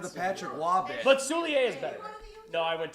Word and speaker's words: Soulier: You don't even know how to pronounce Liam Soulier. I thought it was Soulier. It is. He's French. Soulier. It is. It is. It is Soulier?